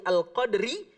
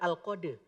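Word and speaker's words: القدر: waqfu ROM atau officer cara membacanya tetap diwakafkan di huruf Dal tapi harus ada sifat huruf roknya setengah keluar al-qadr bukan al-qadir airnya hilang tadi sore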